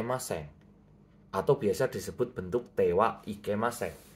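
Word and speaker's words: ては: atau biasa disebut bentuk tewa Ike maseng walaupun ditulis menggunakan hiraganaha tapi cara bacanya ini menjadi karena sebuah partikel nah ketika tidak boleh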